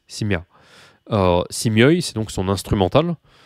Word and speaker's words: семья: Je vais vous indiquer l'accent tonique de семья, qui est ici, семья.